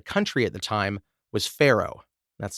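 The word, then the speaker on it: faro: popular across the country at the time was Pharaoh that's spelled f-a-r-o gameplay in Pharaoh is essentially just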